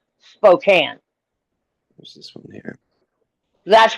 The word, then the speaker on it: Spokane: It's spelled Spokane, but it's pronounced Spokane.